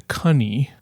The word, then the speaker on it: cunny: previous pronunciation had been cunny, like honey or money, right?